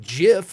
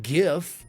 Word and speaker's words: GIF: in the nerd world I think it should be pronounced Jif and not gif but that's like hardly